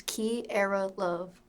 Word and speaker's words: Kierra Luv: So it is Kierra Luv. Do people mispronounce this?